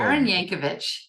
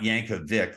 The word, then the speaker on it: Yankovich: your last name Bianca Yankovic yeah not Yankovic like Weird Al no no someday though